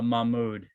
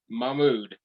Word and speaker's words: Mahmood: how do you say your last name uh mahmoud mahmud that sounds awesome yeah and uh he is